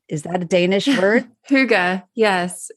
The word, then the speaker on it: hygge: the Hai the is that a Danish word Huga yes h y g g e Huga yes it's Huga I because I've always been